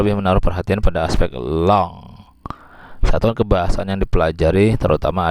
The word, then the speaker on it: langue: Tulisannya begitu, tapi bacanya kalau bahasa Prancis parole, kemudian yang ini bacanya langue.